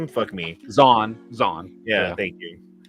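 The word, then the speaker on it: Zahn: wish that they could do the uh Timothy Zorn Z or whatever how do you say his name me Zan Zan yeah thank you um I read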